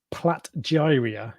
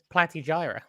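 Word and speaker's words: Platygyra: sec someone's just asked is Platt diarrhea is that how you pronounce it an SPS I thought it was a platy Gyra platter jira sorry you're quite right is it an SPS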